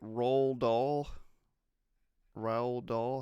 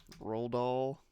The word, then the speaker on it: Roald Dahl: so I never know how to say it roll doll how do you think that's correct let's see how I think he's rolled all roll doll Road dog it's one of the Road Warriors